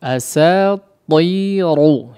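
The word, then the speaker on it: أساطير: Ta dan ra di sini rawan jadi tipis ya. Rawan jadi tipis ya. Padahal keduanya adalah huruf yang ditebalkan secara bacaan ya dalam kondisi seperti ini. Baik, diperhatikan, pertahankan ketebalan dua huruf ini, ta dan ra-nya.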